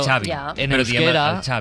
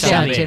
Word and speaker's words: Xavi: En euskera la X no se pronuncia igual que la X en catalán. Es un matiz, es un pequeño matiz que yo le llamo, yo lo catalanizo, yo le llamo Xavi Alonso.